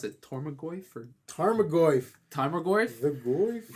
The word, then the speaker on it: Tarmogoyf: So like I had how do you pronounce it? Tormagoyf or Tarmogoyf. Tarmogoyf? The Goyf? Yeah, it's Tarmogoyf.